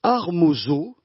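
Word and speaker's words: ἁρμόζω: Ce n'est donc pas sans raison que Paul va utiliser un terme grec qui se prononce Armosao.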